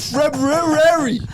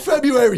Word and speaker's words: February: February or silent. You can't even spell properly. February. It's spelled February. Not February.